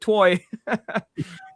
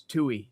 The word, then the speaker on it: Tui: they've worked together for years, and his daughter said, "Oh, and this is for David David Toy," and she couldn't pronounce his name, and Diesel went, "It's Tui, David Tui," Yeah.